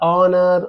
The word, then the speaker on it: honor: It's a hour means it's a hour, honor, hourly, all are silent H words.